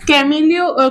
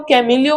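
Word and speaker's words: Camillo: देखो जो ये गॉल्जी अपेरेटस है इसे कैमिलियो कैमिलियो गोल्गी ने डिस्कवर किया। इनको आप कैसे भी प्रोनाउंस कर सकते हो क्योंकि कई टीचर्स कैमिलो बोलते हैं। कई लोग कैमिलियो गॉलजी बोलते हैं।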